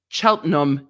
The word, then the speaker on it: Cheltenham: i yes um in laura said it's chelten cheltenham in the uk well see i maybe